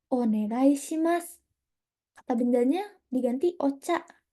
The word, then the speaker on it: onegai: Tapi kalau orang Jepang sama yang udah cepat bacanya jadinya onegai. Ocha o onegai shimasu. Jadinya mendengung ya, bukan G. Negai, negai.